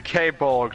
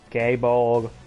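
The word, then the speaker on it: Gáe Bolg: Still, though, the K-Bolg deserves only the rarest of materials. Gaybolg. I said it right. Didn't say. You said K.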